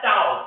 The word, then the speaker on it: tau: That is called as tau. Tau. That is the pronunciation for the symbol.